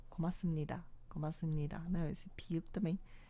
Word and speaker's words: 고맙습니다: 고맙습니다. 고맙습니다. 고맙습니다. Né? Esse piup também. Aqui, ele é um piup também, igual esse, só que ele é conjugado. Né? Ele é pronunciado porque em seguida vem um chiot, né?